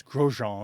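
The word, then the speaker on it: Grosjean: bilingualism it's by Fran I don't know if he pronounces his last name in French but it's gron in French g r o s j a n it up yes look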